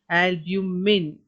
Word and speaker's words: albumen: white glue like liquid called albumin but the spelling is albumen but you pronounce it albumin it protect the embryo